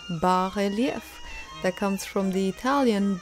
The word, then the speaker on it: bas: is barf you ask and why do you say it like that here's a majestic example by artist Goa Tash that turned me onto this marvelous artistic technique a barf is a word of French origin barf that comes from the